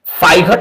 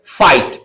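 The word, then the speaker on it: fight: तो ये साइलेंट होगा। इसे नाइघट ना पढ़कर नाइट फाइघट ना पढ़कर फाइट और कघट ना पढ़कर कॉट ऐसा मतलब जी एच जो है साइलेंट होगा।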